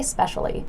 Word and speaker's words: especially: draw attention to it I just say 'specially like I really like dessert 'specially chocolate ice cream okay 'specially now the reason why I'm telling you about this is not just for the pronunciation because I think a lot of you know that we say specially you've picked it up